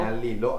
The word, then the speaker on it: Ña Lilo: Ña Lilo. Acento en la O ahí.